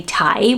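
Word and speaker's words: Tadhg: Now, correct me if I'm wrong with the spelling, but I say Tig, the Irish name. It went up 219 places last year. I know baby Tig. Some people just say Ty without the G on the end.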